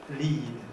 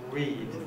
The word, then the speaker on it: read: of problems so read is uh often pronounced as lead lead okay lead lead and even pronounces and